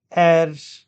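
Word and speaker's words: heir: gender air and Eris these these nouns begin with the alphabet h but when we pronounce these uh nouns uh there is no ha sound these words begin with a vowel sound air and Eris so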